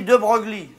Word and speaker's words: De Broglie: Ça s'écrit De Broglie. C'est des noms de faucheton, ça s'écrit pas comme ça se prononce.